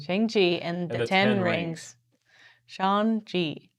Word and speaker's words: Shang-Chi: Shang-Chi. Pronounced like Shang.